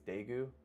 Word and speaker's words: Daegu: I'm pronouncing it's Daegu.